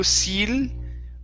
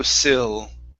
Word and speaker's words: sill: ey vowel sound so instead of window seal window sill window seal yes there you